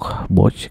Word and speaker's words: Bosch: Oke, selain mendistribusikan produk Toto, Surya Pertiwi juga mendistribusikan beberapa produk brand lain seperti Villeroy and Bosch, bacanya gimana? Bosch gitu ya, Stiebel Atron ya, dan lain-lain gitu ya.